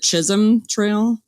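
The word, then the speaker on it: Chisholm Trail: And can you tell us a little bit about the was it Chisum Trail? Is that how you say it? Yes.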